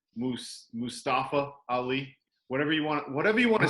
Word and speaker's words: Mustafa: Mustafa. It's Mustafa. Who cares? Moving on. Wow, what a rebuttal.